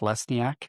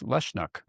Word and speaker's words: Lesniak: So I always thought my name was pronounced Lesniak.